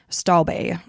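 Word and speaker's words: Stobbe: Kim was getting ready to move to Beijing, China with her Danish partner, Ole Stab. Stalbe is how you pronounce it.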